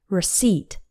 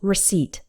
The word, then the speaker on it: receipt: on the second one receipt also the P in receipt is silent we don't say receipt it's just receipt imagine the P just